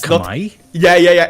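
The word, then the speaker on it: Khmer: do with Age of Vampires we all say kamur but actually it's pronounced kamay it's kamay yeah yeah yeah it's oh my God no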